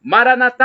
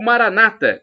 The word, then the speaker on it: Maranata: dizemos nós católicos ou Maranata como falam os evangélicos protestantes não importa da somos todos irmãos e com a tônica na última sílaba o com a tônica na penúltima sílaba e significado é o